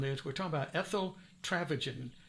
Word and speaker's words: Traphagen: we're talking about ethyl travaging t-r-a-p h-a-g-e-n and I've learned how to say her name here because it's trafficking um so thank you